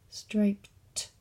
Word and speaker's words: striped: at it like that there's the word stripe striped it has the sound at the end so we have to